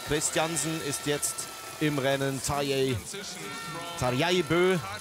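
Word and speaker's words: Tarjei Bø: Tarjei Bö, so wird er richtig ausgesprochen, hat ja alles gegeben, was er konnte.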